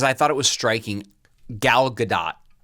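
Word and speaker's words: Gal Gadot: Galadot. Right. Right. That's how you say her name, right? I think it's so g I thought it was Galadot. Yeah, I think you're wrong. It's Galado.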